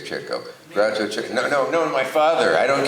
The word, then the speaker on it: Chico: He mispronounced it, Chico. He didn't know to say Chico.